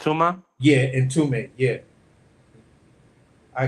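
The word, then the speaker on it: Itauma: Not how the fuck do you pronounce this dude's name? Moses. Yeah, Moses. Oh, Moses. it's Ituma.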